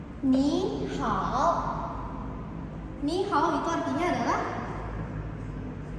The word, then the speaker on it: ni hao: Bacanya ni hao. Ni hao.